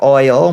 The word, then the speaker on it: oil: You say ol or al instead of oil when pronouncing oil.